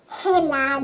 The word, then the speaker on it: helado: Lalo, doesn't that say helado? No, Lela, you don't pronounce the H in Spanish.